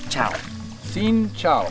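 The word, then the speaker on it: xin chào: hello yeah in vietnamese we say as sin ciao ciao right now h a o chang ciao right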